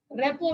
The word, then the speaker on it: rapport: Second stage is रेपो building. रेपो का spelling ध्यान दीजिए, RAPPORT होगा रेपो। रिपोर्ट लिखते हैं लेकिन RA साइलेंट हो गई है, रेपो बिल्डिंग बोला जाता है।